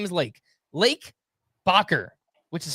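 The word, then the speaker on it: Lake Bachar: Lake Bcker, which is spelled B A C H A R in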